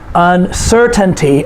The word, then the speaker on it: uncertainty: Uncertainty, uncertainty, 4 syllables. The third to the last syllable is C-E-R, uncertainty.